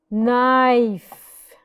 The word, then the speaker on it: knife: rules together perfect it's okay knee the K is silent when it's followed by n n okay another n knife knife rest all I did was that I